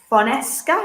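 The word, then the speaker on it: Fonseca: Tottenham are not intention to cover the economic difference of the side with Fonesca.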